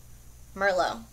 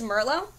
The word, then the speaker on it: Merlot: I don't think you pronounce the T. So Merlot. Because it'd be dumb to say Merlot. So no. So I think it's Merlot, and it's just a beautiful wine type shade, if that's applicable.